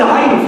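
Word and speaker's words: ع: When they put it further beyond, what happens? You struggle, yeah? Say ah. That's ayn for you. You're pronouncing ayn perfectly.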